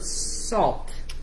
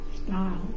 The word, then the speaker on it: sal: La sal. La sal. La sal. No, sal. Stal. You're saying stal. Sal.